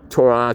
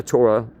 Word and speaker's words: Torah: They don't read their Torah. Torah. Torah. Two different pronunciations.